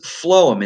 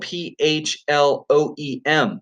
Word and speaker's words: phloem: your vocabulary words and it sounds like an F instead of a pH it's that pH makes an F sound so it's called phloem and phloem is the